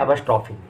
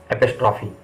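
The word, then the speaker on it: apostrophe: Number 8 हमारा जो है वो है एपोस्ट्रोफी। एपोस्ट्रोफी, बहुत लोग इसको एपोस्ट्रोफ बोलते हैं, लेकिन ये करेक्ट उच्चारण नहीं है, इसका है एपोस्ट्रोफी।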